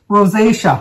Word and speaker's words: rosacea: the pronunciation of that well i think the pronunciation is rosacea rosacea r-o-s-a-c-e-a rosacea well anyway